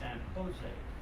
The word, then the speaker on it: San Jose: He said, it's San Jose. Now, how do you get Ho out of a Joe? He said, well, you're here in California. He said, remember when you see a J, pronounce it with a H sound. I can handle that. J with an H sound.